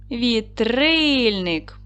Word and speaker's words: Вітрильник: Тепер, будь ласка, поставте наголос. Вітрильник. Падає наголос на другий склад.